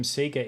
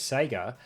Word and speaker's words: Sega: but related note, yeah, when I was growing up it was very common to call them Sega in Australia, and many people here still do. I don't remember exactly when I personally stopped pronouncing it that way, I just remember that at some point, I figured that since the actual company pronounced it as Sega, and they say or